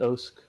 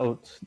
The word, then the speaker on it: OSK: Yeah, you're actually supposed to pronounce it OSK. Yeah. According to. Thank you, Oats. No, not Oats. Oats is what you eat. We don't eat OSK.